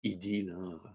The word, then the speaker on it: Highdeal: système il s'appelle highdeal donc idylle c'est je le prononce à la à la française est ce un moyen